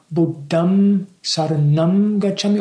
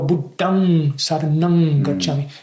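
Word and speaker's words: Buddhaṃ saraṇaṃ gacchāmi: Because there's, you know, I can recite Buddham Saranam Gacchami or Buddham Saranam Gacchami. It's the same letter, but either you pronounce it as M or as Ng.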